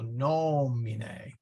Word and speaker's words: nomine: And when we say the Our Father, we say in nomine. Well, short, so that accent goes there. So nomine. And even if that 3rd